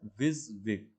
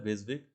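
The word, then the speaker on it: WYSIWYG: इसे प्रोनाउंस कैसे करते हैं, विज़विग, है ना, इसे ऐसा ही बोला जाता है विज़विग।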